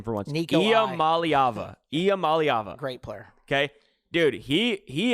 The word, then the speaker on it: Iamaleava: Nico, and I'm going to pronounce his last name for once. Nico Iamaleava.